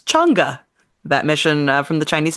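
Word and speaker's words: Chang'e: Smite which is also how I learned to pronounce chunga that mission from the Chinese space agency well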